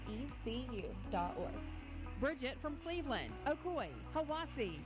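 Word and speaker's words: Hiwassee: minute I'm Dwayne from Cleveland Tennessee and it's pronounced Ocoee Etowah and hawasi Adam Denver asoe hawasi itoa I'm Kelsey from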